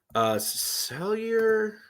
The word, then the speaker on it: Sellier: Sellier, that's how you pronounce his name.